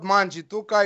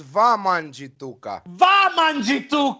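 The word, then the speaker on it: Wamangituka: word of alex manjituka it's not manjituka is vamanjituka has not been pronounced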